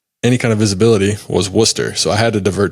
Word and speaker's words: Worcester: Well, they spell it like Worcester, but it's actually called Worcester.